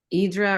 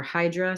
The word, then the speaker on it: Hydra: bunch of temples and idra or Hydra some people call it that it's just there's no